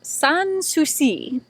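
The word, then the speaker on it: Sans Souci: brewery which is pronounced sons who see it is a French name Susi is actually a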